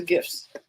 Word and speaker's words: GIF: Those are GIFs. It's GIF, like in peanut butter.